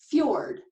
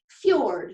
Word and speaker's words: fjord: pretty odd combination right this strange word is pronounced cured kind of like an FYI sound can you say it with me fjord say it out loud fjord it's your word alright so back to what